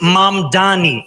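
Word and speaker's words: Mamdani: Furthermore, the name is Mam Dani. M A M D A N I. You should learn how to say it because we got to get it right.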